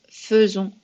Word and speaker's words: faisons: C'est exactement la même chose, ça se prononce faisons. C'est comme si c'était écrit avec un seul E. Donc, c'est faisons, c'est pas faisons, c'est faisons.